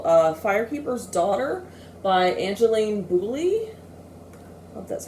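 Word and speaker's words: Boulley: this with people uh firekeeper's daughter by angeline booley that's how you pronounce it and i did this is the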